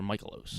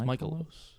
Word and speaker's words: Mikolas: I think it's Michaelos. It's an A at the end, so Michaelos.